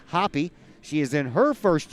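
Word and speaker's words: Happe: last name is now hoppy that's h-a-p-p-e but pronounced hoppy she is in her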